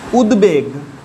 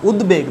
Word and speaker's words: উদ্বেগ: দ এর সঙ্গে দেখো, দ দিয়ে উদাহরণ দেখো উদ্বেগ, হস্য উ দয় বয়কার গ, উদ্বেগ, দেখো দ এর সঙ্গে বফলা যোগ আছে, পরিষ্কারভাবে ব উচ্চারণ হচ্ছে, উদ্বেগ ব উচ্চারণ হচ্ছে।